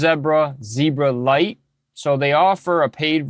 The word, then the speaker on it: Zebralette: So this is pronounced as Zebra, but this is Zebralite.